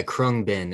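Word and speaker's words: Khruangbin: know if you guys know the artist uh chromebin uh they've blown up a lot of band the band the band yeah is that how you pronounce it yeah krung bin it's a weird pronunciation but it's like k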